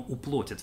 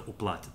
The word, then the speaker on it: уплатят: Именно отсюда, именно оттуда приходит в русское просторечие вот эта чудовищная форма «уплотят» вместо «уплатят», «заплатят».